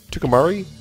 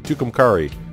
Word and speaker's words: Tucumcari: Tucumari? Tucumcari. Sure, that's the way I'll pronounce it. I got two of them going to Tucumari. Yeah, I won't be able to get that right.